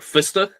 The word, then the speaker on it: Fustuk: And I think Fustuk is like the more correct, but I think that's acceptable. It has like the swallowed vowel sound.